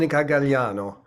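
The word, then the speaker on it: Gagliano: it gagano on plant you don't pronounce the G it's mon galano what what does she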